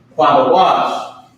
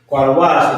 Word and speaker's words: Qadash: Qadash, right? Qadash, which is holy.